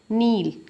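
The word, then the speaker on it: Nile: Cotton as well as flex वर cultivate किया जाता था near the river नील एंड नाइल river, आप कुछ भी बोल सकते हैं जैसा आप प्रोनाउंस करते हो, and were used for making fabrics.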